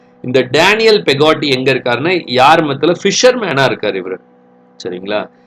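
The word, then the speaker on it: Yarmouth: யார் மவுத் அப்படின்னு ப்ரொனவுன்ஸ் பண்ண வேண்டாம், அது யார்மத்.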